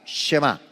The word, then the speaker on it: Shema: Márquele ahí al margen de la Biblia, el Shema, se escribe S-H-E-M-A, Shema.